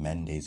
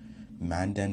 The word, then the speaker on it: Manden: the tribe of dan the real correct way of the name mendes actually man dan manden is the correct way mende was a mispronunciation by european writers kha khan means language